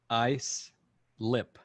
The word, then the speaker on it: Islip: but it's not islip when when judy said it's i slip and phil said it's ice lip so we have a difference